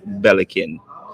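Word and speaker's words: Belikin: really good beer and it's pronounced bellikin and you notice the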